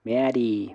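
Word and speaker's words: メアリー: Meari meari, porque lo que hace, la función de ese guioncito es estirar la última sílaba. Fíjense que la última sílaba es una ri, por lo tanto si tiene el guioncito es como estirada.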